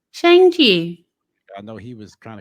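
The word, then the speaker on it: Shang-Chi: was kind of cool he said it a different way in the movie but it has it almost sounds like sean the way she ended up pronouncing it it must be shanghi something like that he's like yeah but my name is now sean so it's something that sounds close to sean right right so um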